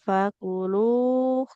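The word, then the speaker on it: فكلوه: Naf, Nafsang fakuluh. Kalaupun berhenti di sini, nggak jadi naf, fakul. Lam oh, domah ketemu wawu dua harokat ibu ya. Nggak boleh hilang panjangnya.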